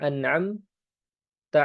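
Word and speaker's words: أَنْعَمْتَ: Yang sahih, yang benar adalah anamta alaihim. Yang yang engkau beri nikmat ya Allah. Yang Engkau beri nikmat ya Allah. Seperti itu makna yang benar. an'amta dengan harakat fathah an'amta.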